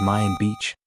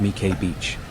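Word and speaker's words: Mỹ Khê: You might be tempted to read it as Mayan beach but it's actually pronounced Mik Beach.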